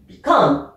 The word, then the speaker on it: become: Par contre, si c'est un verbe, alors là, ça change et l'accent tonique, l'accentuation est sur la deuxième syllabe. Become. Ok?